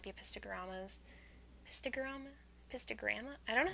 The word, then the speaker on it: Epistogramma: fish soon, like the Epistogramma? I don't know how to pronounce it, because I say it like garam. I used to say epistogrammy, and I was like, that's wrong.